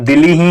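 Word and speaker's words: Dili: जो है इसकी राजधानी जैसे हम प्रोनाउंस जब करते हैं तो दिल्ली ही लगती है लिखने में तो से नहीं है क्योंकि हम डेली लिखते हैं लेकिन यह दिल ही होती है भारत के अतिरिक्त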